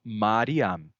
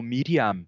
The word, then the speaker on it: Miriam: Porque eles pronunciavam Mariam, né? Depois, séculos depois, quando os massoretas foram pontuar o texto hebraico, eles pontuaram aquele nome não como Mariam, da forma como se pronunciava séculos antes, mas como Miriam, porque a pronúncia já havia mudado.